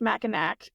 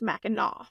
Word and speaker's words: Mackinac: mhm so that's why despite looking like it should be pronounced macac it is ma okay like I was